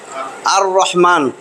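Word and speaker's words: الرحمن: আর লামটা আসে নাই আর রহমান র উচ্চারণটা ঠিকমতন হইছে আর রহমান লামের উচ্চারণ হয় নাই হ্যাঁ সেগুলা হইছে কি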